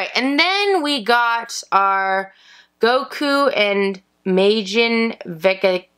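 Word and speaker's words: 悟: Later, he changes the symbol to pronounce Go, which is Goku's own kanji.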